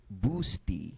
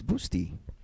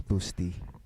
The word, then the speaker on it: Busta: city there you go so nick patrick it's pronounced like busty by the way so it's boosty yeah because busty really sounds somehow it's different busty is different so it's boosty thank you very much nick patrick thanks a